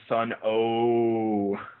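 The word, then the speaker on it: Sunn O))): I'm going to pronounce O, like, drawn out, right? No, it's actually silent. Yeah. No, I believe it is Sun O.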